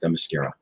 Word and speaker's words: Themyscira: Can I just point out that word is actually pronounced Themyscira?